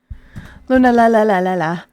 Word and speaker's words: Lunala: I pronounce it lunala. Lunala. Lunala. Lunala. We're just emphasizing the different n.